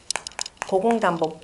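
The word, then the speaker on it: 古公亶父: 고공단보 부라고 읽어놓고요. 사람 이름으로 읽거나 직책으로 읽을 때는 전부 다가 보라고 읽습니다.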